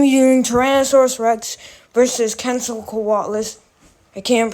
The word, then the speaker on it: Quetzalcoatlus: I'm going to be doing Tyrannosaurus Rex versus Quetzalcoatlus. I can't pronounce it Quetzal because of that.